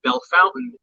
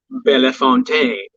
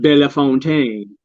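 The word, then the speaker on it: Bellefontaine: you know you have some people that say belle fountain you're like no bella fontaine pronounce it like it's written it's not no fountain yeah it's bella fontaine so it's the same thing you know with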